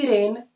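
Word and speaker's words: Wren: तो English grammar के जो जनक है वो सर पीसी रेन एंड H Martin. ये पीसी रेन लिखा हुआ है, डब्ल्यू इसमें साइलेंट है, पीसी रेन एंड H Martin.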